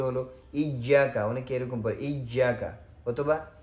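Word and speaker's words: إِيَّاكَ: ইয়্যাকা, অনেকে এরকম পড়ে ইয়্যাকা, অথবা ইয়াকা, হামজাটাকে শক্ত করে না, এটা না, বরং হামজা প্রত্যেকটা জায়গায় কোরআনুল কারীমের যত জায়গায় আপনি হামজা পাবেন সব জায়গায় শক্ত করে পড়তে হবে।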